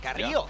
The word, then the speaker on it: Carrillo: I gotta say, I appreciate the pronunciation. Carrillo. Hey, Carrillo. A-roll that R pretty well.